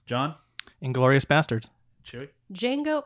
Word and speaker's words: Django: and glorious bastards chewy Jango Unchained the D is silent the D is silent